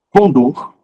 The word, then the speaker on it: condor: pode esquecer é Nobel novel novel é novato Condor cateter e ureter não é cateter nem uret